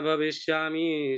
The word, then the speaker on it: भविष्यामः: और भविष्यामि की जगह भविष्यामः पर बहुत अच्छा आपका भविष्यामि।